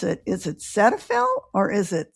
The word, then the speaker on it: Cetaphil: Is it cetaphil or is it cedophil? So, I think it's cedaphil because it's the origin of the names the name is from cedal alcohol and fill, right?